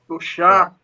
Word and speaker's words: Solskjaer: Solskjaer.